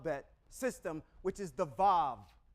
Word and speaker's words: vav: system which is the VAV the VAV makes a v sound the influence and dialect